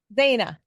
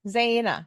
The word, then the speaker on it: Zeina: And there's 2 syllables or 2 vowels in the middle. So that always kind of throws me out.